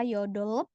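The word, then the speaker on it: 여덟: Ini Arabun tidak baca yodol. B-nya nggak dibaca ya. Karena yang dibaca hanya realnya aja. Jadi yodol. B-nya seolah tidak dibaca.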